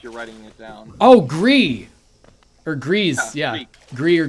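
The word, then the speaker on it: GRIS: the official like cuz cuz it's French I think the official pronunciation is gree but I've always called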